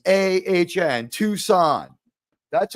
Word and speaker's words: Tucson: bullshitting me about the city you live in tuxen there's no name there we all know that tcon is spelled t w s a hn Tucson it's the letter to right like one the